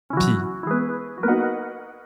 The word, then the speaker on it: pis: Pis. Pis is Quebec's pronunciation of puis, or then.